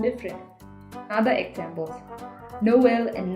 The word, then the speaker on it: Noël: other examples Noël and naïve. if we didn't have this tréma in these words we would have pronounced it as noel and naive.